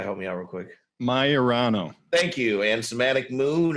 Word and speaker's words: Maiorano: Maiorano.